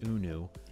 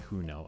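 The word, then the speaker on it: Hunou: of designated player adrian unu now yes it's pronounced unu not who know as i did last episode uh signed him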